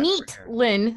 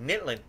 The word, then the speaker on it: Nytlin: that's how I have meet Lynn as a lot of people like to pronounce it I said you were not the first I was like nitlin nitlin yes nyt because my brain is like but you say why like why like a night right anyways dyslexia yeah